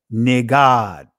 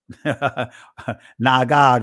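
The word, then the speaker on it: נגד: So if we pronounced it from an ancient Hebraic perspective, it would be Nagad. Nagad, rather.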